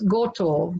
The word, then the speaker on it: goto: If you're in my Koreng area, it's goto, G-O-T-O, and it will be pronounced. So if I was living down there, I would actually pronounce it goto, and it would be Goreng area, not Koreng. But because I'm in Perth, I use the Perth language.